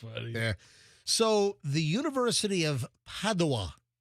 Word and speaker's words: Padova: So, the University of Padawa, I think also they pronounced that Padova as well.